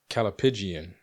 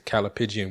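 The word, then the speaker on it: callipygian: Come on, God, be with me and help me pronounce this word correctly. Calipigian.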